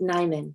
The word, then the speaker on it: Najman: I say Hindi Najan, Hindi Najman, or Hindi Najan. I know something is silent. It's just pronounced Nyman. So Hindi Nyman is perfect.